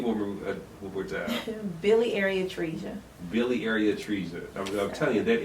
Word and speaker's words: biliary atresia: You're bringing awareness to biliary atresia.